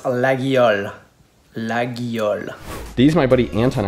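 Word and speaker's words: Laguiole: a lot better than i am it's the laga zoies like laga something something knives legoycies it's actually pronounced lagial lagyal these my buddy anton actually got them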